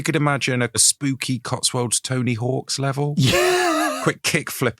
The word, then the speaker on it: Tony Hawk: Tony Hawk or Tony Hawks? It's Tony Hawk. Tony Hawk's is the Tony comedian. Hawk. Tony Hawks is the actor and comedian and writer. Mm. Tony Hawk, pro skater, is how you should pronounce it.